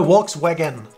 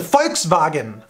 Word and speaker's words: Volkswagen: that's a foul thing it's not a walks wagon some Volkswagen it's a folks bargain Volkswagen yeah and it's